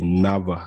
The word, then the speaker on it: NAWA: jolla today i'll be just talking about the nava scholarship the wg7 is pronounced as v in polish language again it's the nova scholarship and it's also known as the stefan